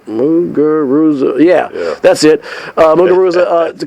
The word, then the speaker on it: Muguruza: Then she was up 5-2, kind of let the upstart Gabby, not Gabby, I want to make sure I pronounce it correctly, Garbine Muguruza. Muguruza, yeah, that's it.